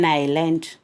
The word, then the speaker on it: island: an island. S is silent. Okay, ISLAND. island. Okay, yes हम pronounce नहीं करेंगे. Okay, island. Okay, you should aware about this. Okay, ISLAND. Island. Okay, yes is silent here.